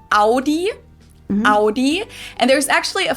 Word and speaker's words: Audi: Most Americans that I know pronounce it like I just said it. Audi. In German, we say Audi.